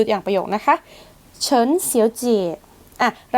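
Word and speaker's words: 小姐: เงิน คำ ถัด ไป ค่ะ อ่าน ว่า เสียวจ เสียว เจี่ แปล ว่า คุณ ผู้ หญิง เจี่ ตรง นี้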